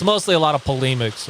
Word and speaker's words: polemics: It's a lot of it's mostly a lot of polemics right now. Bulimics? Polemics. Like people throwing up? No, it's like criticism of other positions, other I faiths. see. So polemics. I mispronounced polemics.